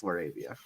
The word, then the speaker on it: LaRavia: so yeah of Berard Hawkins and laravia it's laravia Trey Murphy is by far better than all